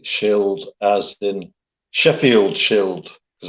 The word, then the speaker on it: Scyld: I'd imagine your Christian name, which is spelled Scyld, Shield.